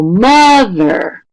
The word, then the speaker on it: mother: So if we say, for example, mother, right? Ma, the syllable in that is going to be longer, stronger, louder, and higher, right? Mother. We don't say mother, right? It's not at the same pitch. It's mother, right?